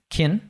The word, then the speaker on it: can: it in school right but he reduces can to Kin this is something that that we need to do all the time right kin and it links to the eye and